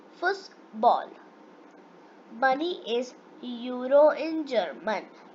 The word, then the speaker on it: Fußball: Football is Fußball in German.